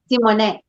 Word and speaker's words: Simone: Old rusty French. But I love that. Simone. So now I'll say it right.